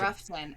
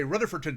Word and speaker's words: Rutherfordton: You say Ruffton. Oh, Ruffton. Okay. It's Ruffton. If you go down there and you say Rutherfordton, they will stab you. It is. Leicester here. Yeah, it's Ruffton.